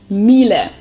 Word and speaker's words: Miele: high-end domestic appliances and it's not exactly pronounced wrong in english but english native speakers usually say something like that so it usually sounds more like an a in the end whereas in german we say mile mile so the last